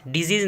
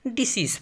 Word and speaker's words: decease: डिजीज़ नहीं पढ़ेंगे इसको, डिसीज़ पढ़ेंगे, मौत, वफ़ात।